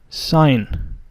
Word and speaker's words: sign: And here the G is silent, sign.